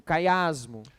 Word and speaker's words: quiasmo: É um quiasmo. Okay? Quiasmo. Obrigado. Quiasmo. I Chiasmo?